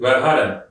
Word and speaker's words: Verhaeren: Emil Verhaeren, artık telaffuzu nasıldır? Verhaeren.